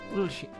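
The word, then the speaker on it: Oisín: I see an accented I, so it'd be Oisin or something? Oh, Ushin. Ushin?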